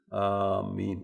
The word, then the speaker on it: آمین: آمین الف کے مد کے ساتھ، اس طرح کہنا سنت اور افضل ہے.